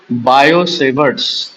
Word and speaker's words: Biot-Savart: तो लॉ का नाम है बायोसेबर्ड्स लॉ तो टी को प्रोनाउंस मत करो बायो इस बायोसेवर्ट्स लॉ